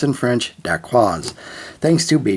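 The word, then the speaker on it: dacquoise: France we have one few words I can pronounce in French da quaz thanks to ban H now daqua itself is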